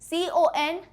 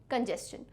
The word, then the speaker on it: congestion: नहीं आएगा, जे नहीं आएगा, यहाँ जी आएगा, CONGESTION, CONGESTION, कंजेस्शन, ठीक? So when ever you feel कि मैम स्पेलिंग्स गलत होती है, तो मैं ये नहीं